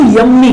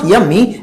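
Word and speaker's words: yummy: जैसे कोई डिश होती है, बहुत खाने में पसंद है आपको, तो बहुत से उसको यम्मी कहते हैं। इट्स नॉट यम्मी, इट्स यमी, क्योंकि एक एम कटना है।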